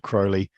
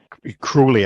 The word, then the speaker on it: Crowley: and I found books uh mainly um Aleister Crowley um cruelly I should say I bet she'd learn by